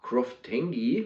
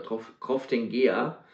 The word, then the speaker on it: Croftengea: oder der Whisky heißt Croftengi oder Croftengia. Also ich glaube, Croftengi spricht man es aus, ist die rauchige Variante von Loch Lomond.